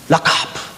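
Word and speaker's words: רחף: 주세요 꼭라 카프라는 단어예요 라카프 이게 사실은 카 발음이 잘 안 돼요라 하프로 발음하기도 하고 독일 발음처럼 라카 목 목에서 나오기 때문에이 발음이 좀 어려워요 여러분 꼭 기억하세요 운행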